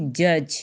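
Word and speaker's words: judge: जे यू डी जी ई जज, इसमें D silent है, जज, ठीक है।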